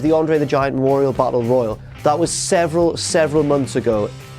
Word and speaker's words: Battle Royal: He says Battle Royale, like the popular Japanese novel and film. Yeah, he's a tit, he's an idiot. Battle Royale, it's Battle Royal.